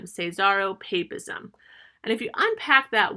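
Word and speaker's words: caesaropapism: first key difference is this concept known as cesaro papism i'm going to spell that for you because it's a good term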